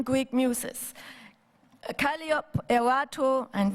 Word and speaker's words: Calliope: Calliope, Erato, and we don't pronounce it Calliope, you know.